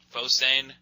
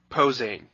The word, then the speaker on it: Posehn: Fo saying? Posehn. Posehn. Why can't you have an easier to pronounce name, dude?